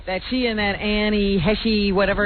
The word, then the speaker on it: Heche: that she and that Annie Heche, whatever her name is. H, I've learned. H? Yeah. Well, spell it that way.